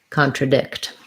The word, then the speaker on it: contradict: your vowel and then for um contradict stress is on the last syllable again so we would just have contra contra so this is an ah little secondary stress there i'm guessing getting really tiny sorry contradict um great question about